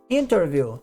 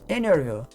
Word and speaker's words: interview: 20 20 por qu T depois de um n você não pronuncia o t tá entrevista em vez de falar interview você vai ouvir muita gente falando interview vai omitir o t depois do n Inclusive a palavra internet